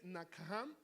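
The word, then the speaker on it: נחם: arrepentimiento la primera verdad se escribe nachan pero se dice nakam Y esa palabra significa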